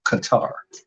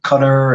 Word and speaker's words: Qatar: And yes, it's pronounced Qatar. So I've heard many mannerisms with the cutter and things like that. Uh, we pronounce these countries the way the homeland folks pronounce their countries. And in Qatar, they pronounce it Qatar.